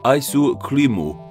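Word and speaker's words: アイスクリーム: their native equivalents EG ice cream in Japanese is spelled with Katakana and is pronounced ISO cremo so now we understand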